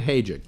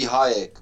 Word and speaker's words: Hayek: move over okay it's it should be Hayek but it doesn't matter Hayek okay yes like as in Salma Hayek yes okay okay no